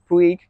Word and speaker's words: Puig: So I'm a Dodgers fan who used to live in Los Angeles, and we used to have a player called Yasiel Puig, spelled the same way, so I'm pronounce it the Puig windscreen.